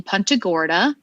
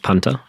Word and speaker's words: Punta Gorda: how you say it is it pronounced punter it is contogora i've been saying punta it is punta gorda which is like weird yes like punching uh you know football etc it was never punta gordon was it it was